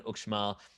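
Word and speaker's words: Uxmal: down to the yucatan where we stayed in ukmal which is spelled u x u-x-m-a-l which is an hour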